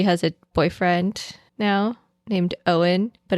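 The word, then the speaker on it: Eoin: Apparently, she has a boyfriend now named Owen, but it's spelled like the Irish way, like E O I N.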